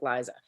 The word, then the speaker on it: Lisa: i come across that my name is lisa but it's like liza so like there is